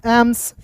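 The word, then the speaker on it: AIIMS: पढ़ लीजिए एम का म एस का स एम्स जैसे दोस्त क्या होता है पटना एम्स होता है दिल्ली एम्स होता है यानी कि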